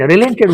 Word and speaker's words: relent: What does the word relent stand for? Go to page number 58. Here the pronunciation of this word is relent. In the second on the second syllable there is a stress.